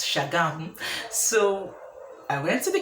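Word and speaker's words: Shagamu: states camp in chatham spelled as chagamo were pronounced as shagami so i went to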